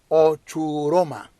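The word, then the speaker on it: ὀχύρωμα: primero el término fortaleza del griego es ochuuroma así se pronuncia se escribe o ch u r o m a o churoma oiga lo que es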